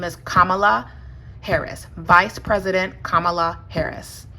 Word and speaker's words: Kamala: apologies her name is Kamala Harris vice president Kamala Harris it's not Kamala it's Kamala and I will